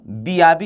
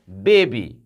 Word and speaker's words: baby: तो क्या बी के आधार पर पढ़िए तो बियाबी हो गया कि नहीं। लेकिन आपका उच्चारण ये गलत है, ये सही क्या होगा, बेबी, BAD, बैड, bad means बुरा।